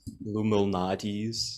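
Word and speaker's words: Lou Malnati's: pizza is a big chicago thing um personally illuminati's it's lumo nadis if you want to pronounce it whatever um that's a big popular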